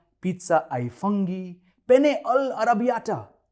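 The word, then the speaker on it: ai funghi: यहां इंडिया में जब भी कभी हम ALFUNGI को मेन्यू में देखते हैं तो इसे अल फंगी प्रोनाउंस करते हैं, मगर असल में इसे आई कहते हैं। पिज्जा आई फुंगी, पिज्जा आई फुंगी।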